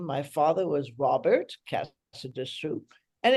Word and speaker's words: Casadesus: say well you know the name is originally actually Catalan from Catalonia but the pronunciation sort of rhymes with Calamazoo Cassadoo a lot of people